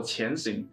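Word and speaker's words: 潜行: 个名字，其实潜行念作前行，意味着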